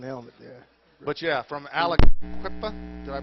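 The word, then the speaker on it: Aliquippa: a nice looking helmet there but yeah from alaka did I pronounce that correctly Alaqua Pennsylvania yes right hope well high school and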